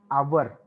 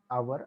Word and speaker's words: hour: For example, an our, don't pronounce the word hour.